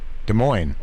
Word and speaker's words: Des Moines: we can go to we can pronounce it Des Moines good morning right right see